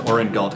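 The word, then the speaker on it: Aurengalt: my sole benefit here's something all right it's pronounced urianche and last name is oren galt a-u-r-e-n-g-a-l-t hmm w-r-g-u-r-e-l-t a-u-r-e-n that was good whiskey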